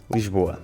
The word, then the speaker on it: Lisboa: que dizemos Flipe, ou o i da própria palavra Lisboa, que dizemos Lsboa.